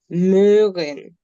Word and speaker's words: Möhren: Or you can call it möhren. Spell it, please.